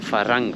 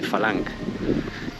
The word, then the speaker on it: farang: Nosotros somos falang y se escribe con r creo farang por la r dice L falang y siempre me saludan